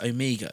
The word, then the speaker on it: Omega: I looked at this, and in the US and in the UK, we pronounce Omega as Omega, but in Australia, it's Omega. So obviously there's like the regional thing. But I actually Googled it, and I listened to different pronunciations on YouTube, on Wikipedia, and I was like, okay, fine, it's Omega then.